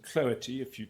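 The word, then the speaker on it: Cloete: Now, the leading case here is a case on the slide, IG Index and Cloety, that's how you pronounce it.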